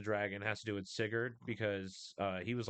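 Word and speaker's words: Sigurd: Uh this in particular instance in the beginning with the dragon has to do with Sigard because uh he was like one of the first as guardian warriors.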